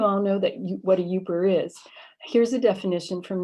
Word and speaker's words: Yooper: you no doubt know the name derives from the pronunciation of the acronym up with er right so a person